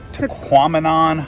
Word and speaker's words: Tahquamenon: Here we are at Tahquamenon Falls.